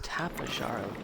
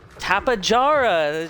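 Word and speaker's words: Tapejara: Let's see what is tapara. Okay. Tapajara. The J is just a little bit more pronounced.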